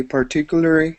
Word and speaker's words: particularly: words here uh whoops this word would be particularly okay this is going to be a U part particularly okay go ahead and repeat